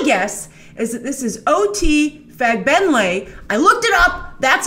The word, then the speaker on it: OT Fagbenle: So my guess is that this is OT Fagbenle. I looked it up. That's how you pronounce it, from The Handmaid's Tale, giving the MCU their answer to Will Smith's Deadshot.